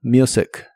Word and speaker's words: music: La t de listen no se pronuncia y la u de la palabra music se pronuncia como you. Listen to music.